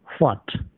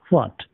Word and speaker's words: what: तो इसका प्रोनंसिएशन कैसे होता है, हम लोगों ने पढ़ा था ना, आधा ह एंड देन वा एंड देन ट. व्हाट व्हाट, इसका मतलब होता है क्या.